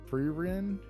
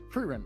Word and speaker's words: Frieren: goofy sometimes, especially uh I always pronounce her name wrong, even though she's like the main character of the show. Uh Ferrerin. No, you Frein.